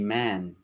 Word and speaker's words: man: Mira que la A abierta es un sonido así como más abierto, más pronunciado, más abierto, como man.